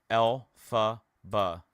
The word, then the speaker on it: Elphaba: It's a brilliantly crazy fact, but the man that wrote The Wizard of Oz is Lloyd Frank Baum. Elphaba. It's his initials pronounced.